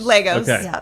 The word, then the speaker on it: Legos: That's all you've ever heard was Legos. Legos. All right. Good. So I started say I started off saying it right. Yeah. Then I've been mispronouncing it now for the last several. So all I got to do is when I read this is keep in my head Legos. Legos. The toys.